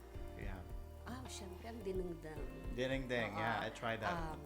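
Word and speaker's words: dinengdeng: right gustong-gusto ko dito ko lang Natikman yung diningding I'll pronounce it right diningding Did I say it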